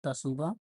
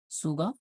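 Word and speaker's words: Tsuga: is obtained from the तसुगा शुगा T silent है शुगा कैनाडेनिस ये भी सही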